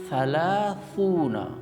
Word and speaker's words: ثلاثون: So we can express it easily if we want to say or to pronounce thalathuna. It needs a bit practice.